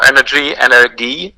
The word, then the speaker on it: Energie: So the pronunciation is Energiewende. So Energie in German, and Wende is the second part of the word.